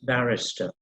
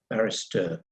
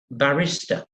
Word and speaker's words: barrister: understand the pronunciation it's barrister uh barrister not barista which means somebody who makes coffee they get very upset